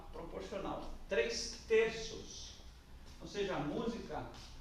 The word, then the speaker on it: música: Música é uma palavra proparoxítona. E tem que ser. Porque é quando a gente pisa que tem que ter a sílaba mais forte.